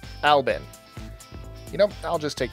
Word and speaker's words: Albin: Supposedly, it's pronounced Albin.